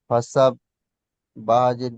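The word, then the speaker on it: فسبح: ফা যাওয়ার ফা, সিন বাজাওয়ার সাব, ফাসাব, বা হাজের বি, ফাসাব বি, বড় হা উচ্চারণ বা করেন, বা ফাসাব্বিহ।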